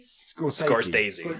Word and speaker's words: Scorsese: Mostly 'cause I don't know how to pronounce it. Oh God. A while back, Scorsese? Scorsese.